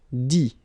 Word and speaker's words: dit: Dire, I-R-E, will become I-T, dit. Okay, phonetically, same thing here. You don't pronounce the final T.